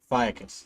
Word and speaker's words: Ophiuchus: Ophiuchus, that's how you pronounce it.